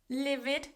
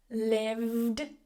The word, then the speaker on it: lived: Again, we're not going to say livid or opened. Lived. Voiced sound there.